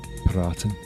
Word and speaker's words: EPiraten: Um it's um it comes from the uh German for um advice paraten. So it's shortened from Adel Vice. So if you would want to say it correctly, it's a paratin.